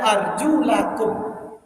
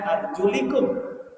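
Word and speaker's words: أرجلكم: juga disuruh untuk dibasuk sehingga bacanya arjulakum bukan arjulikum tapi kalau yang berpendapat bacaannya adalah arjulikum dengan baris eh majrur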